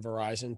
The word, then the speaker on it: Verizon: say the name but it rhymes with horizon starts with a v right sure um no i can say the name it's verizon so i worked for